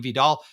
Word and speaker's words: Vidal: So Vidal, is it Vidal or Vidal?